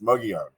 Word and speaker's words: Mogollon: on the Mogan Rim I love the fact that you pronounced that properly by the way thank you and uh right you know I mean I I've heard all different variations but it's muggy on and so I meet